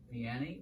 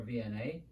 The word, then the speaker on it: Vianney: week this week is saint john piani or vna depending on how you want to pronounce it he